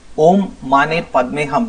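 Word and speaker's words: Om Mani Padme Hum: Om Mane Padme Hum. That is the pronunciation.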